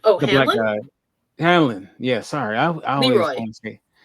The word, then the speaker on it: Hallorann: How do you pronounce his last name? Which one? Oh, The Hallorann? black guy. Hallorann.